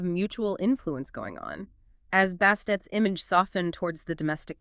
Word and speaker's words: Bastet: Bastet, the way we usually say it now, that's actually a later convention. They added that feminine suffix, the T sound at the end, probably to make sure the final consonant was pronounced clearly. Earlier on, she was often just called Bast.